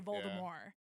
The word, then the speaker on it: Voldemort: Uh but the one thing with it is they do not pronounce the T on Voldemort. Oh, they say Voldemort.